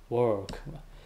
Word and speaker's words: work: 알 발음에 주의해야지. work.